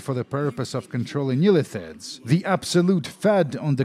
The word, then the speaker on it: Illithid: By the way, it's actually pronounced Illithid. I've been saying it wrong.